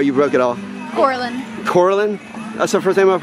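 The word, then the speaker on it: Coralyn: Layla Layla are you broke at all Orlin Corlin that's the first time I've heard that name how do you spell it c-o-r-a-l-y-n very cool my name's really hard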